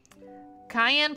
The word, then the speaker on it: Cayenne: being a me mom cayenne pronounced like the pepper because because then this